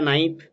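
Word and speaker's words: knife: যেমন এটা নাইফ, কে কিন্তু উচ্চারণ হয় না।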